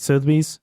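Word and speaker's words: Sotheby's: this is awesome RM Sobe right is that how you say it so bees so bees yes the auction house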